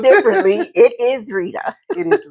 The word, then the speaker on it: Retta: This is Retta Timmons. Although people like to call me Retta because it's spelled differently, it is Retta. It is Retta. It is Retta.